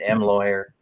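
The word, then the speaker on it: M. Lhuillier: I can never say that name. It's the way it's spelled, I guess. M. Lawyer's the way Minnie says you pronounce it. M. Lawyer.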